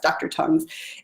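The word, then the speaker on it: Dr. Tung's: toes it's T U and G be like so not quite spelled like your tongue but u ng apostrophe s dr. tongues and it's got a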